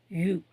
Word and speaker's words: ewe: யூ. அதே மாதிரி தான் இதை வந்து நம்ம உச்சரிக்கிறோம், இந்த யூ.